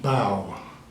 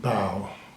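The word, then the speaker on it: bough: this word no it's not B this is pronounced bow b o u g h bow okay remember that okay I show you another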